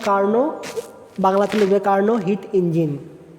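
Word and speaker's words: Carnot: এরপর দেখো এটা হচ্ছে কি কার্ন, এখানে নট লেখা আছে কিন্তু উচ্চারণ হবে কি কার্ন, বাংলাতে লিখবে কার্ন হিট ইঞ্জিন।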